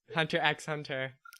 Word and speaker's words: Hunter x Hunter: I always called it Hunter x Hunter. Yeah, that's what I've always called it. Yeah. I thought it was at first, and then I found out that the X is silent.